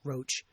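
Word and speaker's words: Roche: and the BMJ expressed concern to Roach, should be pronounced Roach, that eight of 10 treatment trials were unpublished and therefore unverifiable by the general medical community.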